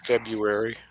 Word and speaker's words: February: word there's a there's there's two r's in there and i can't i can't say the first one despite my trying i don't think too many people do a lot of people pronounce it february lots of people do